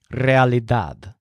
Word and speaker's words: realidad: things in Joel's kitchen the word realidad sounds a lot like reality and that's exactly what it means but it has a stress on dad really dad to say in reality